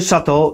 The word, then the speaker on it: Chateau: Inspiracją dla nazwy Shato jest rodzinne miasto pana Changa, które wymawia się podobnie do francuskiego słowa Chateau, które oznacza zamek.